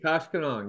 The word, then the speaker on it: Koshkonong: So Michael is with BYO Operations, Beyond Organics, in Koshkonong. Did I pronounce that right? Koshkonong. Yes, that is Koshkonong, yes.